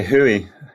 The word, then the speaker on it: WHOI: about wh oi yeah so w-h-o-r we've always said we've got we pronounce it where you say hui um for sure yeah